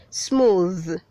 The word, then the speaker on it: smooth: squats red 402 says smooth say smooth yes the th is having the hard th that is the voiced th so you say smooth note smooth and not